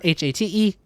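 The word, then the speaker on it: Haight: know how it's spelled it's not h-a-t-e but they pronounce it as hate and it's not height because that's h-e-i-g-h-t um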